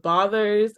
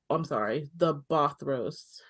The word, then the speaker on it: Bothros: So here in Adios, we can find the Bothers in the Crypts of the Lost. The Bothros. I mispronounced that. Not the Bothers, the Bothros.